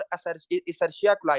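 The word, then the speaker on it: E. coli: UTI that is your अर्शिया क्लाई इसको different लोग different तरह प्रोनाउंस करते हैं लेकिन मैं इसको कहता हूं इकलाई ठीक है मोस्ट कॉमन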